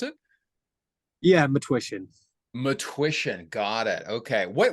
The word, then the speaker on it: Matwishyn: name is matsh is that how how to pronounce it yeah matsh matsh got it okay what what uh ancestry